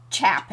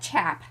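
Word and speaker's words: tjap: If they are making masses they have a thing called a chop and it's chap. It looks like chap. Yep. And and it's a there's a J in there.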